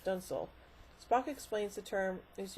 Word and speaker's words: dunsel: The Enterprise is declared the victor, prompting Commodore Wesley to call Kirk Captain Dunsale, pronounced Dunsel.